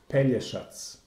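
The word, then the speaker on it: Pelješac: to realize that the the pronunciation should be pena shots shots yes this is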